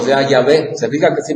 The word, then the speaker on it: Yahvé: Entonces, por eso es que sabemos que la pronunciación correcta es Yahvé. Esa es la pronunciación correcta. Y por eso es que los diccionarios a partir de ahí ponen Jehová, falsa pronunciación del nombre de Dios.